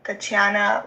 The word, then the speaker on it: Tatiana: Yeah, so my mom's page on Facebook is Missing Tatiana Lupaca. If you pronounce it in as how you spell it.